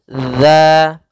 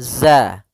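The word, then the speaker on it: ذ: atas gigi seri atas sehingga pelafalannya dia dza dza bukan Za ya dia tidak dialirkan suaranya tapi dia tertahan maaf tetap dialirkan suaranya cuma dia berbeda daripada pelafalan dan pengucapannya dza bukan zazaza ya Kemudian pada lafal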